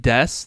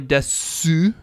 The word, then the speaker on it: desu: We have inu wa kowai desu and inu wa pizza o tabemasu, right? They end in that. It's not pronounced su here, but that's how we write it.